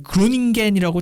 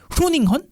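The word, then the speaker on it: Groningen: 네덜란드의 그 그로닝겐이라고 책이 나오는데 이게 원 발음이 후로닝헌 일 거예요.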